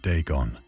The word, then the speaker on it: Dagon: Now they give me the pronunciation, so to speak, right? Dagon, right?